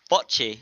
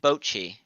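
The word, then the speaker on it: Bocchi: bot The Rock d bchi yeah I am I am okay that that o i argue is yes apparently it is close to the O of Japanese Boi Boi the rocku guess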